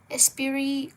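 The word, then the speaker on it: esprit: Leip de lev 24 colorage mister by florine lar by the same illustrator we have espiri spirit I don't think you pronounce the t espiri cottage monolie album a colorier and Again, really thick paper.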